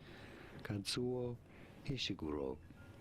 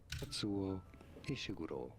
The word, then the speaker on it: Kazuo Ishiguro: You're looking at how to pronounce the name of this British. Wait, what is this? You say his name? Kazuo Ishiguro. Kazuo Ishiguro.